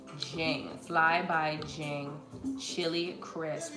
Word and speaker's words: Jing: fly by z jane that's how you pronounce it jing fly by jing chili